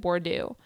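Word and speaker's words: Bourdieu: in class and said Bordeaux and I was like well my joke doesn't make sense to them if it doesn't rhyme with board yo no cultural capital um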